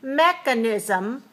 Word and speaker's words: mechanism: the letter K so watch the difference between mechanic 3 to stress on the second syllable and mechanism mechanism for one the second syllable is not stressed the first syllable is stressed so watch the K